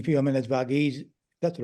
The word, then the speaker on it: Varghese: I mean, as Varghese, that's the right pronunciation, as Peter Varghese said in his report